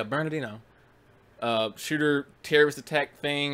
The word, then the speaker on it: Bernardino: the whole San Bernardino I almost never pronounced that work correctly burnt Bernardino yeah Bernardino a shooter terrorist attack